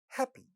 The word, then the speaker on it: happy: Happy. This word has two syllables. First syllable is stressed, but pa in this word this syllable is not getting aspirated because it is at